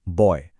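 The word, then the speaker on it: buoy: इसे प्रोनाउंस करते हैं बॉय। हाँ, बिल्कुल लड़का वाला बॉय।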